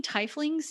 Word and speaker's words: tiefling: flings too and yes we know that people say tiefling but i like how tifling sounds funny sounds weird i always pronounce it yeah t-fling makes me think of tea like somebody is like it's sweet sounding yeah i've always just said tiffling just because i i